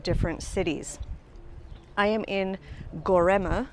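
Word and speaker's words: Göreme: comprised of five different cities I am in gorma it's looks like it's spelled gorm but the E is at the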